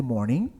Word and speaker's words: morning: Na língua inglesa, palavras com a terminação ing, a gente nunca vai pronunciar o G, tá? Pronuncia só até o então. Morning, não é morning.